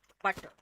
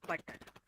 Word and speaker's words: butter: You will pronounce it butter and not butter.